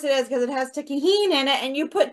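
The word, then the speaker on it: Tajín: Or I called it tangent until I got told it's not how you pronounce it. Oh, so Tajin. Oh, tangent. No wonder I can't find it. Tahine is how you call it.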